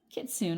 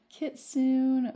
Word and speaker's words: Kitsune: Oh, let's do pronunciation first. It's Japanese. Let's listen. I'll let you listen too. Kitsune. Kitsune. I was right.